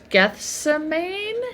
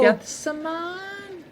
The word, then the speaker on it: Gethsemane: And then I've never been totally sure how to pronounce this. Gethamine. Oh, Gethsemane. G. Oh, G. G. G. Gess. Oh, Is that how you say it? I think so. Like the Bible.